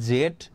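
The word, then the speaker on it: Z: এই জিনিসটা আমরা সবাই জানি, যেমন এ থেকে জেড পর্যন্ত বা এ থেকে জি পর্যন্ত। এটাকে তোমরা জেড এটাও প্রোনাউন্স করতে পারো, বা জি, অনেকে এটাকে জি জি, ঠিক আছে, জিও কিন্তু প্রোনাউন্স করতে পারো, দুটোটাই কিন্তু কারেক্ট।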